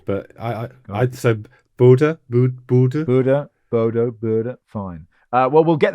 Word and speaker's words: Bodø: I don't know, to be honest, because the fans last night seemed to be noticing it Bodø with almost a U sound, but I so Bodø, Bodø, fine.